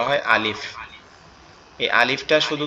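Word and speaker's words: ألف: সেটা হচ্ছে আমাদের উপরের দুই দাঁত, নিচের এই যে ঠোঁট আছে এই ঠোঁটের সাথে লাগবে, লেগে উচ্চারিত হবে আলিফ। একটু বাতাস মতো বের হবে, উচ্চারিত হবে আলিফ আলিফ আলিফ।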